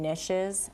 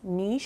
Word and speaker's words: niche: next a lot of people kind of west of the mississippi call them niches and it's niche now what is it or niche it's the recess it's